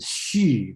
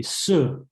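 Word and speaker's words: 葉: Another thing is about the word most people pronounce as "she," but actually it should be "sir" because the place called "sir."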